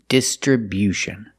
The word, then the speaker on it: distribution: We move the stress to the first and third syllables. The first syllable, dis. distribution and the stress on the third syllable too with bu distriution stress on the first and third syllable and remember it's not distribution it's distribution make that y-yu sound after the b distribution this is a